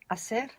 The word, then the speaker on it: hacer: To do what to make, which begins with a silent H. Hablas. No, that's speak. H. Silent H. Quiero, ¿cómo estás? Hacer.